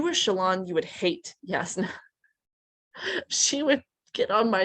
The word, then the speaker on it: Jasna: Yasna. Oh, or Jasna, as I read it all those years, then heard the audiobook pronounce it differently.